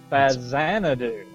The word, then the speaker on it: Faxanadu: it's pronounced uh oh fazan do it is a z it is the x is pronounced like a z because it was a